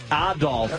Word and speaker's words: Adolf: Adolf as the proper pronunciation.